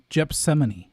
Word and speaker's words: Gethsemane: I mispronounced the biblical pronunciation. Let me go back. Wait, who? Okay, Domino. It's Gethsemane.